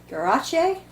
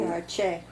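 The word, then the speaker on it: Garesché: If he was Cuban descent, Garache? There is an accent on the end E. So Garache. So Garichet, maybe?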